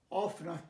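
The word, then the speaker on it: often: আচ্ছা আর ইটা উজ্জ আছে, অফ না টি, ইটা একেবারে উজ্জ আছে, টিটা কেউ কেউ অফটেন বা অফটেন বলে, বাট অফটেন ইজ not right, অফন।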